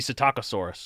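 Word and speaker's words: Psittacosaurus: has a a baby sitakasaurus that's it yeah yeah it's the taco the p is silent like pterosaur right okay it means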